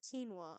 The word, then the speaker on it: quinoa: let's go kinoa Burger why is it spelled like that and pronounced quinoa I would love to